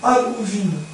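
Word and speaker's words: Annwfn: L'être d'abord inconscient, émergé d'un abîme obscur, alors ça se prononce, appelé l'âme ou vin. Âme ou vin. Voilà, le W se prononce ou, le F c'est un V, bon voilà.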